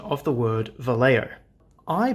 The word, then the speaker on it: Vallejo: is absolutely infallible and turns out the correct pronunciation is Vallejo so that is why I used a very